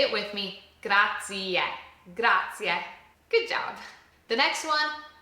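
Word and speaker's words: grazie: We have to pronounce that e at the end. So say it with me. Gracia.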